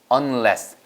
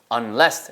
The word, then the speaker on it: unless: on 하나 있는 거구나 unless unless 아시겠죠 unless입니다 an 아니고요 UN이에요 그래서 unless unless 그래서 센트 있습니다 만일